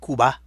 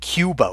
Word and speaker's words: Cuba: We even say the name of the country that's the Spanish people call Cuba. We call it Cuba. We put that Y sound in.